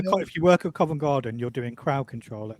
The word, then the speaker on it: Covent Garden: Swiss Cottage, Covent Gardens, Elephant and Castle.